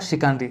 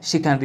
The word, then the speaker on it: chicanery: ठीक है, तो इसका उच्चारण होगा शिकानरी। ठीक है, कई बच्चों को पढ़ना नहीं आता तो मैं पढ़ देता हूँ, ध्यान से सुनिएगा। ये है शिकानरी, इसका उच्चारण होगा।